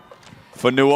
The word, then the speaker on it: Fanua: Tackled by the Hawks, number 39, Fanua. Fanua on the tackle. I called him Funa earlier, GT.